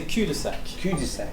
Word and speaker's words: cul-de-sac: should you say it so you should say cudasec which literally means bomb